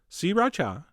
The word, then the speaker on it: sriracha: the same amount of sriracha, which is how I've been told to pronounce it. 3 distinct syllables, sriracha. Although, you know what? That sounds kind of weird. I'm going back to sriracha.